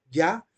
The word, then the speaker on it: Yah: yahvé no es una no es una simple es es ya no es un viejo no es un yajo ni es un Yahoo ni eso ninguna otra forma o sea es una ya sin ninguna otra consonante vocal después de la consonante Hey o la H entonces dado que solo